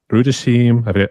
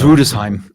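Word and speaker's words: Rüdesheim: So totally awesome trip but uh Badben Rutim I hope that's how you pronounce it. I'm sorry but I think it's Rudesheim.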